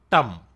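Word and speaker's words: ತಂ: The next one is tum. Tum. And you get tum by adding t plus um. Plus um equal to tum, and you pronounce it like tum in stumble, stumble, stumble, stumble.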